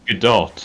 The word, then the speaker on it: Godot: It's Godot, apparently.